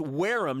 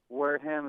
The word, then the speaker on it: Wareham: It's Wareham, not Wareham, right?